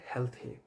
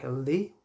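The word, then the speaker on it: healthy: Next শব্দটা হচ্ছে হেলথি, হেলথি ওয়েলথি হচ্ছে সঠিক উচ্চারণ, স্যাডলি আমরা এটাকে ছোটোবেলা থেকে শিখে এসেছি হেলদি ওয়েলদি, এই যে টিএইচের উচ্চারণটা এখানে থার মতো হবে, হেলথি ওয়েলথি, হেলথ ওয়েলথ।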